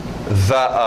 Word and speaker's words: the: Então, eu posso dizer the other, ou the, se quiser, eu preferia essa pronúncia do i.